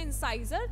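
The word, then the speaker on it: incisor: जो second इंसिजर है, इंसिजर, ठीक है, जिसे आप लोग कुछ बच्चे प्रोनाउंस करेंगे इंसाइजर, तो एज योर विश.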